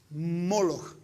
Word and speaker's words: Moloch: Boshet, que es vergüenza, las vocales de la palabra vergüenza, y las pusieron debajo del nombre de las letras que es, en vez de Melech, rey, se pronuncia Moloch.